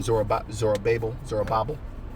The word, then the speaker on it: Zerubbabel: Zerubbabel.